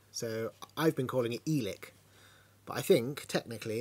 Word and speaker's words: Eilik: I think it's pronounced ilik because the E and the I make an I sound so I've been calling it elick but I think technically